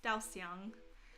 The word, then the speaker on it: Daoxiang: If you were to pronounce it like it's supposed to be, it's Daoxiang.